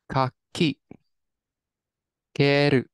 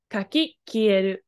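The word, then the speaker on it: 掻き消える: This kanji can be pronounced as ka, like in kesu. So that'd be the ka, and then su would be at the end. But here it's ki. Kieru.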